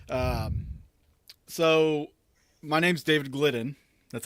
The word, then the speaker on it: Gildden: YouTube and Facebook um so my name's David gliden that's how you pronounced my last name you're not the first